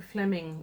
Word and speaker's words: Flemyng: to the audiobook, which was narrated by Jason Flemyng, which I may not be pronouncing his name right.